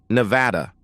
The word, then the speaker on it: Nevada: "No, and I use the English pronunciation, Nevada."